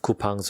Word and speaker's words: Coupang: discounts which is where the name comes from kupang is a match of the word coupon and